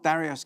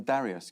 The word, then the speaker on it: Darius: Have I mispronounced his name? I call him Darius Guppy, is that what?